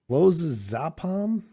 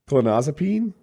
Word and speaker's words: clonazepam: And it turned out that time he was addicted to clozapam. Proper pronunciation. Thank you. Clonazepam.